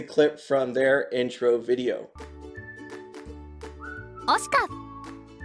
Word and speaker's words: OSICA: Also, if you're wondering how to pronounce OSICA, here is a clip from their intro video. OSICA